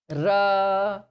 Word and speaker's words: Ra: Ra is completely touching. Ra, not like the English say, we are going. So we are, we don't say ra because that's English. In Hindi and in Sanskrit, ra is pronounced very clearly.